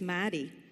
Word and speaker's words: Maddy: closer so our mayor we're gonna say his name property it's not Marty it's Maddy Maddy Walsh decided that